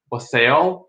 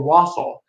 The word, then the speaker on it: wassail: discussion in the group, whether it's pronounced wassail or wassail. And the decision I think that Rick made or pointed out to us, is that one is the verb and one is the noun.